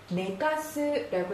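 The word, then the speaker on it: 寝かす: 뭐라고 읽어요? 그렇죠? 내르라고 하죠. 내르라고 하면 자다, 눕다라는 동사고요. 하나만 더 힌트로 가르쳐드리면 네가스라고 읽으면 재우다, 누이다, 눕히다라는 동사로도 읽을 수 있습니다.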